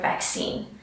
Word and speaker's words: vaccine: Let's quickly take a look at the pronunciation of the word vaccine. Sometimes and often I hear vaccine, all right, or vaccine. So just be careful, it's vac, we've got the k sound, and scene, we've got that e sound.